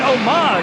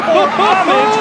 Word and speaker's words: homage: Pretty lady and a pretty man giving her an homage or homage if you pronounce it incorrectly.